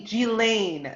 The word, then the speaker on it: Ghislaine: How about Ghislaine or Ghislaine or whatever, however you pronounce her name? It's actually Ghislaine.